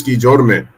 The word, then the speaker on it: Guillorme: So Luis Guillorme, that's how you pronounce it, say it.